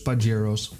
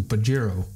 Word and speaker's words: Pajero: The Latin name for the Pampas cat is Leopardus pajeros, which Mitsubishi then shortened to Pajero. The pronunciation of Pajero differs per country, so let's quickly see how each and every country pronounces this.